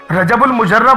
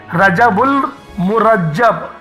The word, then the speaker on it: رجب المرجب: بالکل بھی نہیں ہے، اس کا جو تلفظ ہے وہ بالکل سادے سے ہے، رجب المرجب، مرجب ہے، مجرب نہیں ہے۔ لوگ مجرب بولے جا